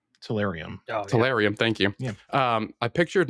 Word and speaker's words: Tellurium: I always pronounce this wrong too, but it's the Tellurium. Tellurium.